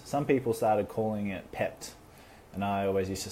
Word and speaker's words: PEPT: always used to say no it's it's PEP tea all right it's PPT not pepped for whatever reason that was stuck in my head and you had to say it properly but over the years this has become pepped and it just sounds so much better right hopefully Avant agrees